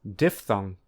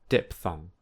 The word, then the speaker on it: diphthong: to pronounce monophthong and diphthong. Importantly, there is no p sound. Instead, the ph is a f sound, like in phone. So, the correct pronunciation is monophthong and diphthong, not monophthong and diphthong.